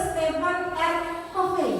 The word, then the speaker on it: Stephen R. Covey: Nah, ini menurut Stephen R. Covey. Bacanya gitu ya.